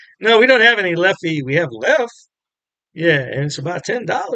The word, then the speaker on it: Leffe: beer please try it left left that's how it's pronounced Le not Ley a lot of pron